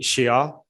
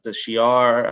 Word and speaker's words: Shi'ar: I'm going to go for the Shi'ar. Yep. Is that how you pronounce it? Shi'ar. Shi'ar, yeah. SHI apostrophe AR.